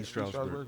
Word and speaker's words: East Stroudsburg: Brianna was a college student at East Stroudsburg. Is that how you say it? East Stroudsburg University.